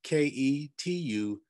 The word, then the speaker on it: Ketuvim: That's Ketuvim.